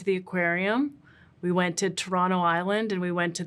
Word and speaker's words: Toronto: Well, Toronto is not spelled just like how it sounds, because the actual spelling for Toronto is Tronno. Toronto. No, Toronto. Tronno.